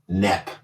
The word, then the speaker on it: Knepp: I think Michael Knepp. K-N-E-P-P. He stole the sound of the K. that's a silent K because he's the silent killer.